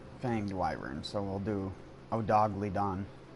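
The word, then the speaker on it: Odogaron: dwyvern so we'll do oh dog leadon the best way to pronounce it odagaron why do i still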